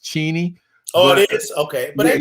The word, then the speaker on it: Cheney: Everybody says Cheney for her name, but it's actually pronounced Cheney.